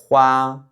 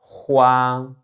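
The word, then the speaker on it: 花: et qui se prononce hua hua hua Donc ici premier ton.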